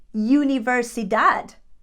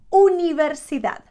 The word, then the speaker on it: Universidad: of doing that and another sound that Learners mispronounce very very often after the because in English is you we tend to say things like Universidad University it doesn't sound like that in Spanish it would be Universidad Universidad that what's the